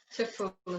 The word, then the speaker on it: Zepola: Pronuncia seu nome para mim, por favor. Cepola. Zepola, ok.